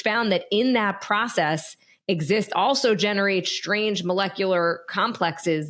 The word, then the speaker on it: XIST: of this molecule exist which is x i but pronounced exist could lead to some